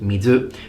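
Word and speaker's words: 水: for, let's say, water, normally when you see the kanji on its own in Japanese, you will pronounce it mizu.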